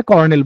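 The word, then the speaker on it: Colonel: এরকম হলে ভালোই তো, কিন্তু আসলে বানানটা হচ্ছে COL1L, COL1L, কলোনেল, অথবা আমরা কর্নেল বলি।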